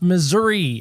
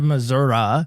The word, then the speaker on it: Missouri: is on the map that's okay it's actually pronounced Missouri outside of Missoura if you're wondering and it's kind of right